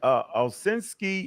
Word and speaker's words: Ovshinsky: And the whole argument started over this guy right here, Stanford, or how you say his name? Oh, Valsky? Ovshinsky. Right. Ovshinsky. Right. Yeah. Ovshinsky.